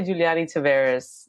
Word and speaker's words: Juliany Taveras: that was great I mean it's I say Giuliani Tavares yeah okay yeah and are you based in